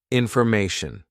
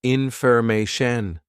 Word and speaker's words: information: here we're teaching pronunciation so how does tyin actually sound because it's a TI n right it sounds something like this Shen ton okay so just